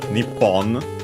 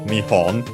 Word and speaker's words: 日本: It's Japan also pronounced as nippon. Uh but uh uh most common reading uh nowadays is neon uh accented on or